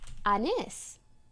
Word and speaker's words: Anys: Okay, but I told him, oh, it's pronounced Anis.